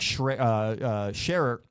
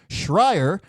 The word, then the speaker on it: Schreier: And they are joined by director Jack Scherer. I'm going to pronounce that name correctly. Schreier.